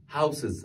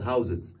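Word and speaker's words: houses: هاوس شو معناها منزل كل الناس للاسف وانا واحد منكم كنت الفظها لما احولها لجم لفظا خاطئا شو تلفظ ها هاوسز ه بتقوللي هاوسز لا هي تلفظ هاوز شو تلفظ هاو زز كويس الحاله الثانيه بنضيف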